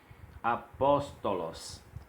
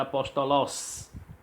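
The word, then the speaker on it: ἀπόστολος: Observe, nós temos a palavra apóstolos. Apóstolos. Então observe que o pós está acentuado, ele é pronunciado mais forte. Se não tivesse esse acento, seria apóstolos, porque o sigma final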